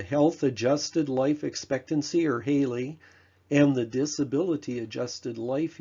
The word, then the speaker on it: HALE: Health Adjusted Life Expectancy, HALE, pronounced HALE, is life expectancy adjusted for disease and disability.